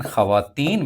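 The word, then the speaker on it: خواتین: अगला सवाल है कि ऐसी वाव जो लिखने में तो आए लेकिन पढ़ने में ना आए, साइलेंट कहलाती है, उसे वाव मादूल कहा जाता है। जैसे ख्वाब, जैसे ख्वाजा, लेकिन ख़वातीन में ये असूल नहीं अप्लाई होता, क्योंकि वहाँ पर वाव को पढ़ा जाता है, जबकि ख्वाजा और ख्वाब में नहीं पढ़ा जाता इस वाव को।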